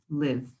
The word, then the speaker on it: live: That has a long I sound, and it's an adjective you use to describe things.